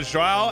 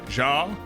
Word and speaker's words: João: No, João is João Silva, and then we have Zhang. Now, sometimes I just forget the extra syllable in João, and so I just say João.